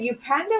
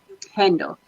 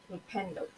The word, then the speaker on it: Upendo: Is it Upanda or Upanda? Upendo. Upendo.